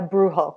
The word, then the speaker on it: brujo: culture being a am i saying it right brujo a brujo yeah rujo yes uh so brujo is the